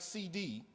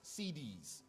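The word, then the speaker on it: Siddis: Not like CD, it's spelled S-I-D-D-I-S, CDs.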